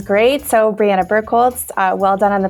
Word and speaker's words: Birkholz: So, Brianna Burkholtz, uh, well done on the pronunciation, Joe.